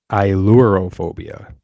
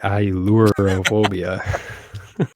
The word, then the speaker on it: Ailurophobia: Yeah, I had to write down like EYE-LURE just so I could pronounce it right. Ailurophobia.